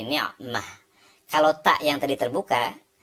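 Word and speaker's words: نعمة: Kalau dibaca lengkapnya ni'matun. Ini juga ni'matun, ya. Tetapi kalau dibaca di bagian akhir kata, kita tidak membacanya ni'matun tetapi menjadi ni'mah.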